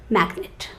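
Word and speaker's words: magnate: business magnet okay so but that spelling is m a g n a t e but you pronounce it as magnet can you book a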